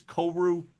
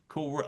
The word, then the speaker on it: Koru: It's Koru. Koru like like ku ku.